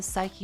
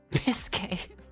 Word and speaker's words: psyche: People don't pronounce the P in psyche.